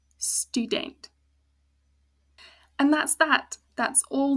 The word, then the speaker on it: student: Whereas student, 2 syllables again, the U is open, ends with the vowel, stu, not student. The E once again closed, so it's a short sound, student.